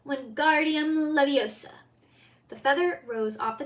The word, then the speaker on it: Wingardium Leviosa: "Wingardium Leviosa," he shouted, waving his long arm like a windmill. "You're saying it wrong," Harry heard Hermione snap. "It's Wingardium Leviosa. Make the gar nice and long."